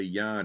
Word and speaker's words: Jan: now when i say yan it's actually spelled j-a-n so it looks like jan but it's yan the pronunciation and he